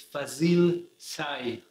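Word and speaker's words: Fazıl Say: it's a Turkish pianist I know how to pronounce it it's Fazil Sai and this guy just a new album with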